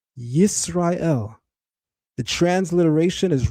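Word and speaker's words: ישראל: If you choose to pronounce the name Yasharallah or Yasharel, it no longer holds that meaning, because now you're treating the root as if it's based in the shin sound.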